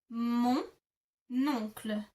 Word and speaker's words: mon oncle: If you can hear, you kind of attach mon oncle together because oncle starts with an O and mon ends in an N. You kind of just glue them together.